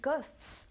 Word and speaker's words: costs: So that's a nice little trick, a nice way of remembering how to pronounce that final S on verbs that end in ST.